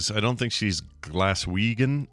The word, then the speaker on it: Glaswegian: So Claire says I don't think she's Glaswegian. Is that how you say it? Like someone from Glasgow? Yeah, from Glasgow. Yeah, Glaswegian.